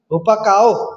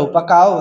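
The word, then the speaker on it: ὑπακοή: नयाँ करारमा आज्ञा पालनको निम्ति चाहिँ हुपकाओ भन्ने शब्द दिएको छ, HUPAKOE। म चाहिँ यसलाई हुपकाओ भन्छु, तपाईँलाई जस्तो उच्चारण सजिलो लाग्छ त्यही भन्नुहोस् है त, HUPAKOE उपकाओ, जसको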